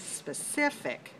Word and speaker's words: specific: one and that is specific specific three syllables where's the stress two okay it's an adjective